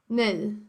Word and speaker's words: nej: And then how do you say no? Nej. So it sounds like that.